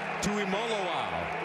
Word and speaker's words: Tuimoloau: JT Tuimoloau. It's Molo, like Rolo, folks. That's how they tell us to pronounce it.